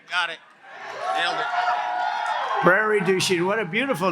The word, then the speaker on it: Prairie du Chien: we got it right got it nailed it Prairie douch what a beautiful name and we have to